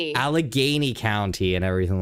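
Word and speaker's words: Allegheny: The Oh, the how do you pronounce it? Alleg Alny County. Alagany. Alagany County and everything like that.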